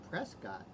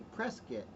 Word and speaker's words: Prescott: are not from Arizona they say Prescott but people people from Arizona say preset is that true old